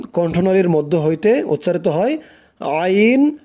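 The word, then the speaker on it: عين: 2টি অক্ষর হচ্ছে আইন হা। আইন, দেখুন আপনি যখন উচ্চারণ করবেন খেয়াল করবেন যে উচ্চারণটা আপনার কোথায় থেকে আসে।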